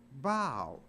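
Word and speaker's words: bough: you g h but it's not pronounced buff it's pronounced bow so even though a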